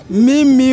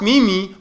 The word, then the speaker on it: meme: feeling you I'm feeling you using the sentence me me went to school I know really say what